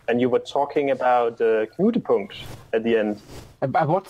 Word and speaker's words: Knutepunkt: Knutepunkt. See, that's easy for you to say. But, Yeah, but it's Norwegian.